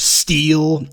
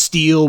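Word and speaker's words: Stihl: makes chainsaws and such steel s-t-i-h-l that's how it's pronounced steel well you know what that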